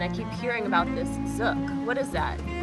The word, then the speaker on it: zouk: And I keep hearing about this zouk. What is that? Zouk. Zouk. Just look at the hook. The hook. Like hookah. Zouk. Okay.